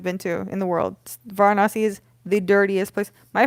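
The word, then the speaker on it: Varanasi: Vanasi is the dirtiest place. My friend had a nickname for it. It's um it's pronounced Vonasi, but my friend calls it very nasty.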